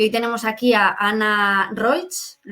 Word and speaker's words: Anna Roig: Y hoy tenemos aquí a Ana Roig, ¿lo he pronunciado bien?